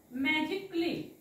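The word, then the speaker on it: magically: pronouns करताना म्हणतात मॅजिकली कली कली म्हणायचं नाही मॅजिकली कारण हा ए इथे सायलेंट आहे असतो आता बघूया बी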